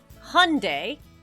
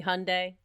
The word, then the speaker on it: Hyundai: Well, Hyundai, you know the motor company Hyundai? Oh, Hyundai. Is that how you pronounce it?